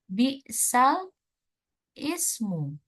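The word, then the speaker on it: بئس الاسم: ini ada di lafaz bisal Ismu ini Oke Nah di sini tertulis tulisannya ya Bal Ismu Lalu bagaimana Ustazah cara bacanya cara bacanya adalah dibaca menjadi bisalismu bisalismu Nah tadi kan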